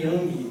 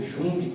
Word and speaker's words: Jung: Por isso que Jung, ou Jung, como outros pronunciam, que foi o maior